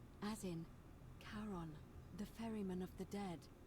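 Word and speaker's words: Charon: It's just as you described it, only your pronunciation is a little off. The name you heard wasn't Karen. It was C H A R O N. As in Kon, the fairyman of the dead.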